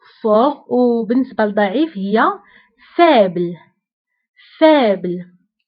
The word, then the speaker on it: fort: قوي fort fort هنا أيضا تي لا تنطق في آخر الكلمة fort.